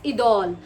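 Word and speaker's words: Idôle: Perfume from luck home is the correct pronunciation. अब मैं वीडियो shoot करने से पहले प्रोनाउंसिएशनंस देख लेती हूं। एंड इट्स इडोल।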